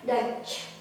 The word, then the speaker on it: Dutch: Nah, ini kita baca sebagai A dan ini silent letter, nggak disebutin. Jadi kita bilangnya Dutch.